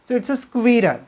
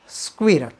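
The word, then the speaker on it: squirrel: खारूताई खारूताईला काय म्हणतात spelling S क्यू यु I double R इ एल सो इट्स बऱ्याच जणांना थोडं कन्फ्युजन होतं स्क्विरल खारू ताईला काय म्हटलं पाहिजे स्क्विरल आणि शेवटचा शब्द आहे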